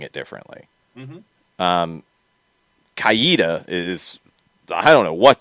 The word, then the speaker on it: Coweta: are saying it like the difference is between kuwita and kaweda i mean that that's that's speed that's that's individual people's way of speaking uh ricky ricardo worked in coweta heard it more a little koita yeah so again that's a little that's a subtle difference yeah lafayette and lafayette